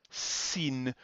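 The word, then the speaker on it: שׂ: sin that's this one here sin we pronounce socks whereas the sh the shin we pronounce sh as in shoot and the diacritics are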